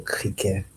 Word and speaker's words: criquet: Cricket is le criquet. Spelled the same, but the e t is like not even in there. Le criquet. Criquet, that is cricket.